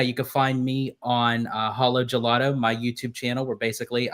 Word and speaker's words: Halo Gelato: You tell me how you say it. It Yeah, it's hollowo gelato. Holo gelato.